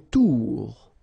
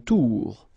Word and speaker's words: tour: Une tour, okay, O-U, ou, une tour.